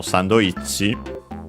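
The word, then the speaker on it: サンドイッチ: Actually accent on the i in Japanese, so sandoichi.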